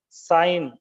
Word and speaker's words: sign: Let's see some more words with silent G. Sign, resign, design, malign, sovereign. In all these words, G is unpronounced.